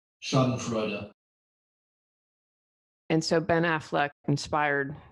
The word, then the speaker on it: Schadenfreude: YouTube and found a click on how to pronounce it. Schadenfreude. Schadenfreude.